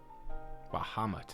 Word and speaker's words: Bahamut: Bahamut is how you say that.